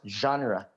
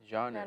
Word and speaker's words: genre: theme right of the thing so it's it's pronounced genre genre okay yes in gaming fps also means frame